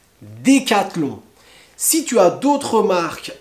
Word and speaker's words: Décathlon: alors une marque très connue aussi cédé catelan décathlon décathlon si tu as d'autres marques à me proposer qui sont difficiles à prononcer tu me veux tu me les met